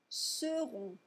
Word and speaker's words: seront: Si vous ne prononcez pas correctement la distinction phonétique entre sauront et seront, ça pourrait poser des problèmes.